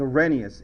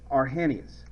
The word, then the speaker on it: Arrhenius: I thought it was Arrhenius. It's Arrhenius. Okay?